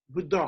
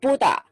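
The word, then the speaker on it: Buddhaḥ: Buddha is not correct pronunciation. Now you might have Buddha all the time, but people are not pronouncing correctly. Real pronunciation, correct pronunciation is Buddha. So Buddha is nominative singular. Nominative singular, yeah. With the Visarga at the end.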